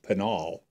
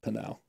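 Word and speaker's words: Pinal: we have panal County they call it penal penal oh yeah she she she actually asked me is that penal County I'm like no it's panel yeah but people call it panol P you know p i n a l panal instead of panal right but anyways go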